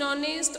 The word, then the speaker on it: honest: Here in honest also H is silent, right?